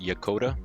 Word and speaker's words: Yokota: you the wrong way I think it's pronounced yakota I don't want to